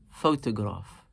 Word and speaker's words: photograph: Photograph. Three syllables, and naturally we slightly emphasize the first one, photograph.